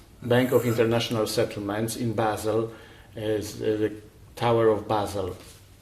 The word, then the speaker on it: Basel: Where are you getting basil from?